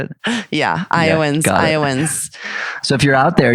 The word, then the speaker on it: Iowans: Yeah, Iowans.